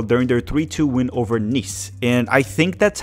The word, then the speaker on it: Nice: their 3-2 win over Nice. And I think that's how you pronounce it. I think it's Nice, even though you spell it as nice.